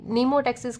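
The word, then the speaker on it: mnemotaxis: नीमोटेक्सिस क्या होता orientation based on memory कहलाता है। सेकंड ऑप्शन इसने क्या दिया है? मीनोटेक्सिस। यह एम यहां पे साइलेंट है बट यहां पे साइलेंट नहीं है।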